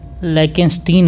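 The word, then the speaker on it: Liechtenstein: हैं जैसे कि आपका स्विटजरलैंड है एक है लकन स्टीन है ठीक लकन स्टीन की स्पेलिंग है एल आई ई सी एस टी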